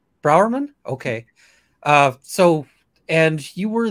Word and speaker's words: Brourman: I'm Isabelle Brourman.